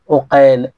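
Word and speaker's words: عقيل: নামে পার্থক্য লিখা একই আপনি লিখতে দেখতে একই লাগবে কিন্তু উচ্চারণে আলাদা আলাদা একটা হচ্ছে আকিল আরেকটা হচ্ছে ওকেল অনুরূপভাবে সুরাহ ইবনে নোমান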